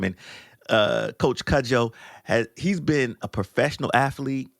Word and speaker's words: Cudjo: Did I say it right? Cudjo? You said it right, All Taryell. right. It is Cudjo.